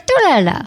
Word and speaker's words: Tortorella: I have Nico Tortorella. Tortorella. That's how you say it, right? That's it. Tortorella.